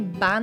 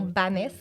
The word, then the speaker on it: Bannes: a reçu Noémi ban c'est bien ban et non banes oui nous l' bien